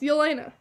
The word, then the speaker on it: Yelena: It's Yelena.